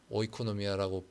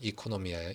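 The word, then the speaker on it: οἰκονομία: 오이코노미아라고 보통 사람들이 많이 발음을 그걸 읽는데 사실 그리스식으로는 이코노미아예요.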